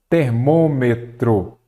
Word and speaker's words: termômetro: então saída é acentuada termômetro vamos ver aqui a última ele é oxítona paroxítona ou não a sílaba tônica é a antepenúltima Então ela é uma